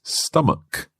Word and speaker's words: stomach: of stomach mark well this word ends with ch and that's normally pronounced CH like church or chicken but here it's stomach a hard k sound that's right so watch